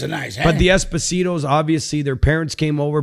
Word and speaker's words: Esposito: First of all, his name is not Esposito. It's Esposito. He's from Napoli, okay?